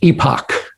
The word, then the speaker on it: EPOC: like to propose the epoc uh pronounced epoch the equal parenting opportunity